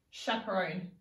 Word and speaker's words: chaperone: split digraph can you teach it to me chaperone CH a p ER Oh next would be